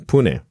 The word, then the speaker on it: Pune: out to India for golfer con India in Pune I'm almost sure I'm mispronouncing it but I'm going to keep on